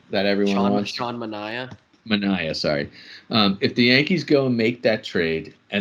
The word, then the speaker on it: Manaea: If the Yankees go to the A's, they make the trade for, I'm going to pronounce it wrong. Is it Manaea, the pitcher that everyone wants? Sean Mania. Manaea, sorry.